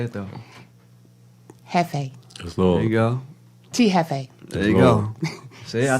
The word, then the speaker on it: Jefe: my grandma's how do you say it though Jefe there you go see I told you you